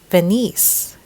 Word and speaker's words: Venice: often than usual but they would normally say Venice the emphasis is on the second syllable which is incorrect the accent should be on the first syllable so this is pronounced